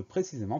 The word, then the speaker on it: précisément: Donc la seule vraie chose qui doit retenir notre attention, c'est le T muet à la fin de précisément, précisément P-R-E accent aigu, C-I, S-E accent aigu, M-E-N-T.